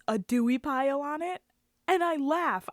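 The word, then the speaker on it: A. Duie Pyle: of the company is a dewey pile literally like it's okay it's spelled all weird like it's a dot d-u-i-e space p-y-l-e a dewey pile a dewy pile that's what kind of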